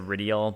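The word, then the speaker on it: Rydell: ridiel i think that in the old vo he might have said ridial but rydel makes more sense to me given the way that it's spelled uh okay so this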